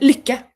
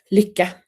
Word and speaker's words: lycka: Kathy said, how do you pronounce lycka? Lycka. Lycka.